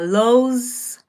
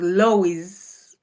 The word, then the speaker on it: Lowe's: Uh, Lowe's. So, Lowe's is spelled L O W E apostrophe S. The Kenyon in me would pronounce it as Lois or Lois, but it's actually pronounced low.